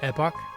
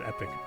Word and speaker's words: epoch: For the longest time, I always pronounced epoch, but it turns out it's epic.